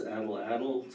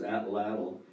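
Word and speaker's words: atlatl: people pronounce it as adeladel some people pronounce it as atad it's ATL ATL and just the invention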